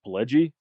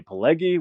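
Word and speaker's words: Pileggi: because I think a lot of people say Pelgi, which is incorrect, you know, based on the novel that Nicholas Pelgi wrote called Wise Guys.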